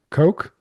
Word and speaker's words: Koch: Christina Koch, I guess that's how you say it. Yeah, Coke, like the Koch brothers.